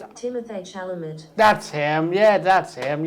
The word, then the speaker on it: Timothée Chalamet: He, oh man, how do I pronounce this? I'll do it on speaker. Ready? I think it's Timothée Chalamet.